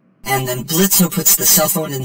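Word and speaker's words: Blitzø: And then Blitzo puts the cell phone in the blender and turns it into a drink. It's Blitz. The O is silent.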